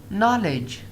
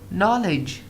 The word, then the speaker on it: knowledge: We have got a D, but after D we have got a what? We've got a G. So how do we pronounce the word? We pronounce the word like knowledge. Knowledge. Knowledge. It means if we have any G after D, so we do not pronounce the word D.